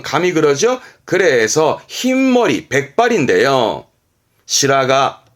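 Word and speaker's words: 白髪: 시라가, 시라가. 이때도 시라 발음이고, 가미의 가에서 시라가.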